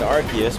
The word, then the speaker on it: Arceus: is uh pokemon arceus yes we're finally saying arceus because that's how they're pronouncing it so i can't wait